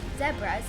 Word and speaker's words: zebras: Plains zebras or pronounced zebras in South Africa are found in the savas.